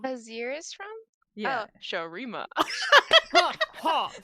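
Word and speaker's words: Shurima: Oh, Sharima. Ha, Sharima. I told her if she had trouble with pronunciation that she should just start quoting that and do the ha Sharima because it'll help her.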